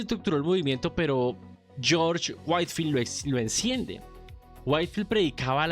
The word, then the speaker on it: Whitefield: White Whitefield. Y la predicación al aire libre. Sí. ¿A quién me querido? Whitefield o Witfield, cualquiera de los dos, por favor, perdóname.